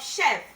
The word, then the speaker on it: chef: Now, the same consonant sound that can be pronounced in letter SH when combined together can also be pronounced in letter CH of chef.